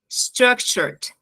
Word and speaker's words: structured: vou falar esse e quando termina em t também t d falo e nas outras esse e vai sumir então structure structured não é structured structur deixa esse D bem como um corte